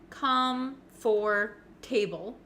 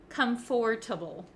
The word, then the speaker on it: comfortable: not really correct so even though it looks like com for table we don't say the o sound comfortable we don't say that we say comfortable comfortable so it sounds like it goes from F to t Okay comfortable comfortable